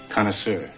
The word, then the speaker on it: connoisseur: Connoisseur. Connoisseur means a person of taste.